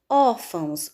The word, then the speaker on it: órfãos: Sílaba mais forte, or. Paroxítona terminada em ditongo ão. Então, deve receber acento. Órfãos, a mesma coisa.